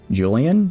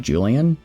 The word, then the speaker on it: Julian: Julian like Julian. Uh I So I pronounce that J with the J, not a H.